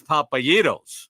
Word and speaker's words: Papayitos: Plan your next trip to Akron or No matter how you say it, you're not far from a Papa Gyros. For Pete's sake, it's Papayitos.